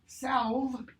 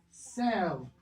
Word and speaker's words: salve: the fat cat sat, before F and V, as in, it's not half. It's not salve, it's salve. It's not save, it's salve.